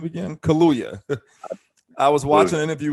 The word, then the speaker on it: Kaluya: how do you say his last name again kaluya i was watching an interview with him on